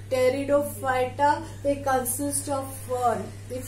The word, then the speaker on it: Pteridophyta: P is silent, pronounced from the T. Pteridophyta, they consist of fern.